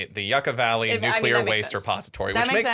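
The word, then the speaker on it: Yucca Valley: other spore which is I pronounced it Yucatan Valley earlier. It's actually the Yucka Valley.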